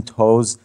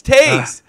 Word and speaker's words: Toews: Oh, well, actually, his mom is French and she wants it to be pronounced the French way.